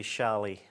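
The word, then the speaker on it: challis: olden the the old the older term used to be shallie. Shallie. Cuz you used to get wool shallie. Yes. Um, but it's known because of how it's spelt. Okay. As viscose shallis.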